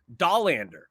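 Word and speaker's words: Dollander: of top prospects as well noticeably with Chase dahlander I believe that's how you say his last name a lot of people have pronounced that name differently over time that's a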